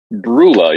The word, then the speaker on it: Brula: We also have, and am I saying it right? Brula. Brula, yeah, like beer.